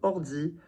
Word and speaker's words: ordi: There's not ord, e. So you want to think of the consonants as being on the end of the first syllable and on the beginning of the next one as well. It's not ord, di, ordi, oi. You slide just as much between two syllables, whether there are freaking